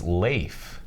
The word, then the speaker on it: Lafe: I learned today that we've been saying his name wrong all these not least it's Lafe no kid like out like a potato chip with an F at the end I got it yeah